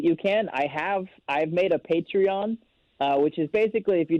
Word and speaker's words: Patreon: It's good to know it's called Patreon. I used to call it Patron, and because I used to watch this wrestling show that had Patron, but it's actually Patreon.